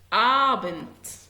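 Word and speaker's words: Abend: آبنت مساء. آبنت الساعة 5 كده بالليل شوية. آبنت. بياخد بالي ان الحرف ده ت هو قدامي دي ولكن بتقرا ت.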